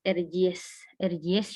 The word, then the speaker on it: Erciyes: di kota Kayseri, yaitu Erciyes. Kalau dalam Turkinya kan, C ini tuh dibacanya J gitu, jadi Erciyes University yang berada di kota Kayseri.